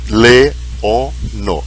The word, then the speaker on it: leono: Granda leono, duas vogais em Esperanto nunca, elas sempre formam sílabas à parte. Se nós temos três vogais, nós temos três sílabas. Então, leono. E o acento sempre cai na penúltima sílaba.